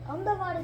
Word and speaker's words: Ahmedabad: So like I said, Ahmedabad's pronunciation, the harder way is Ahmedabad or Ahmedabad. Ahmedabad is the easier way.